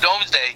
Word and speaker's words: Domesday: production yes and it's pronounced I mean it's pronounced domesday but I think it's written doomsday yes right